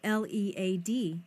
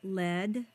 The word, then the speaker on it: lead: The word spelled L E A D is a homograph. It can either be pronounced lead or lead.